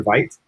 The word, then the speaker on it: Vite: U is doing on V apparently it's it's pronounced beat I that's right yeah I prefer Vite but I so anyway so so uh it's